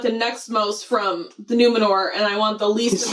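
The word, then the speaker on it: Númenor: Numenor. More. They're swallowing the R but overpronouncing it at the same time.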